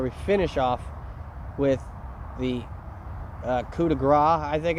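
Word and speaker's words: coup de grâce: of this where we finish off with the coup de grace, I think it's called. But for some reason, some people pronounce it coup de thé.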